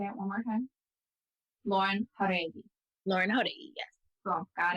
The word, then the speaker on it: Jauregui: Well, it's JAUREGUI, but honestly you can just say JAUREGUI because I say JAUREGUI for American life anyway. Like I'll say JAUREGUI when I'm just like Lauren JAUREGUI. But like that's the proper way to say it.